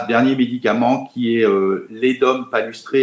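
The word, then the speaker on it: Ledum palustre: Il y a un dernier médicament qui est l'Edum palustré, L-E-D-U-M, palustré, comme ça se prononce, qu'on peut prendre en 15 CH.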